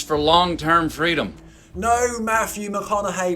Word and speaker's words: McConaughey: No, Matthew McConaughey, which he says rhymes with what would Madonna say.